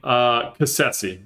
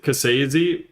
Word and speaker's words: Cassese: Cassese. That's how I pronounce my last name, Cassese. Technically, we went to Italy and they pronounce it Cassese or how do they say it?